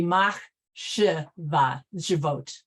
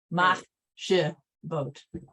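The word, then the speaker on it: מחשבות: That second one is actually pronounced separately. So it according to the rabbi that I learned, it would be mach shivot, mach shivot.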